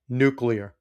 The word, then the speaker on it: nuclear: Nuclear, not nuclear. It's spelled nuclear. I know that's a minor pet peeve, but Benny, you're too smart of a guy to be saying it wrong.